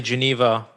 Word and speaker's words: Geneva: Genf is in German, but you say Geneva. Genève. Geneva.